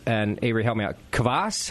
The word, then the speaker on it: kvass: But first, before we get into that, I have, and Averie, help me out, kvass? How do you say this? Mm-hmm. It is kvass.